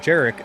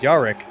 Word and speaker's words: Jerick: and I'm like, "Okay, I know my name is Jerick, but there's a reason I pronounce it Jerick and not Yaric. I'm not Polish and I can't understand Polish."